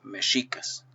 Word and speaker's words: mexicas: que él managua tel la equis tiene el sonido s h y es el que se debería utilizar para palabras con esta lengua en esta lengua por lo tanto la pronunciación correcta es mexicas los mexicas y su